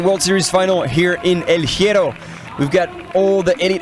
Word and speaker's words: El Hierro: I like how you say El Hierro. Is it not how you say it? Caramba. It's El Hierro.